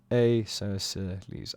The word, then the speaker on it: Aeschylus: It is pronounced Aeschylus.